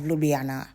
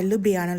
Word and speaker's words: Ljubljana: So instead of saying it like two separate letters, you'd say it the way you would blend an L and a Y in English.